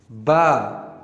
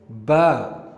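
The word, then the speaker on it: باء: Ba. So we call it Ba. And if we compare it with English alphabet, it sounds like B, like we say B for ball.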